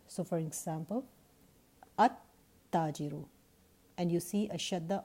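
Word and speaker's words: التاجر: In case of a sun letter, the lam of the lam at-ta'rif is not pronounced, rather it is assimilated into the sun letter. So for example, at-tajiru, and you see a shadda on the sun letter.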